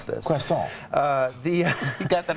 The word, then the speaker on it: croissant: I've been tutored in how to pronounce this. Croissant.